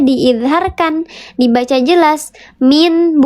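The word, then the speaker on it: مِنْ: Min bukan mil tapi min.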